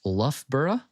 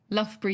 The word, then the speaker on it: Loughborough: I believe it's pronounced Loughborough University. Loughborough University, yeah.